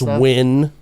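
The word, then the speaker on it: Nguyen: This just I'm simply showing you how stupid I am that I did not know that that was pronounced win.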